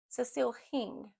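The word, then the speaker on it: Hingh: I said her last name wrong. It's H I N G H. Cecil Hing.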